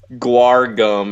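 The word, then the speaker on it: guar: go it not narum gu gum like gu like the band yeah but not spelled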